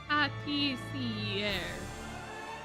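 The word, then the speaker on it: pâtissière: Patisserie. Patisserie? I did say it okay though, right? Patissiere. Patissiere. Ah, okay, patissiere. I was kind of close. I put the emphasis on the wrong syllable.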